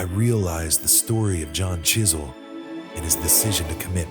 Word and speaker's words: Chiswell: consequences young John Chisel his last name pronounced with a silent W was born around 1710